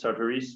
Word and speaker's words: Sartoris: the sardarises which is i always pronounce sartoris because they're french and that's the way they say it but uh i i